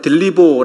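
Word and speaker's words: θλίβω: 라고 하는 이 단어가 성경 원어 에서는 그 들리 보 라고 읽습니다 그런데 성경 어디에 이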